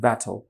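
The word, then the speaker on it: battle: আসছে না রাইট আমরা দ্রুত বললে এটা শনা ব্যাটল right ব্যাটল ব্যাটল right but এটাকে কিন্তু এভাবে ব্যাট বা ব্যাট মানে একটু ক্লোসিভ দিয়ে উচ্চারণ নেটিভ ইন্সপেক্টাররা করেন না।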